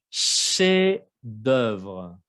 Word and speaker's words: chef d'œuvre: Chef d'œuvre, obra maestra. Chef, la F no se escucha. Chef d'œuvre. Hay dos sílabas.